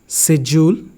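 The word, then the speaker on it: schedule: So first one, learner, pizza, situation, शेड्यूल, Japan, poem.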